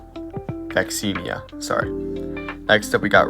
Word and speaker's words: Vaccinia: And then little fun fact down there, the word vaccination comes from the Latin word for cowpox vaccina. Vaccinia, sorry.